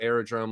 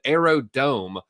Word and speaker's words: Aerodrome: I cover the first time we actually talked about aerodrome. Let me hit the skip ad. Boom. There we go. I actually mispronounced it, Josh. I said Aerodome.